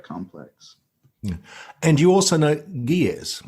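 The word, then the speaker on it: Ge'ez: and you also know gears is that how you pronounce it it is yes uh it is that's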